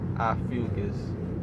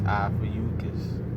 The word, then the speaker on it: Ophiuchus: It's not Ophiuchus or Ophiuchus. It's Ophiuchus. Make sure you say it right.